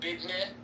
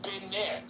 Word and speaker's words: business: No, bidne, where you put a D in it. Bidne. Is it because they have a gap between their teeth? And then another way to say it is binne. B-I-N-I is another pronunciation of business. Those are two.